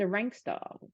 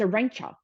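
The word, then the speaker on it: Arantxa: ranker Sanchez Vicario right everyone pronounced it a rank star but it's a Rancher a Rancher I love how she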